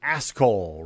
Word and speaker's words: Ascol: No, the response to Ted Cruz from Pastor Tom Ascol, rhymes with asshole, who responded, "Tell it to God, Ted."